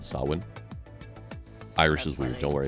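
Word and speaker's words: Samhain: will now become the season of sawin uh which is spelled like Sam Hayne which everybody says the wrong way it is sawin um Sam ha yes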